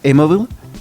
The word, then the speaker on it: Amabile: Y aquí aparece la profesora Teresa, o Teresa, se escribe Amabile, y creo que se pronuncia Amabile. Sí, así como Amabile, pero como amable, suena como amable.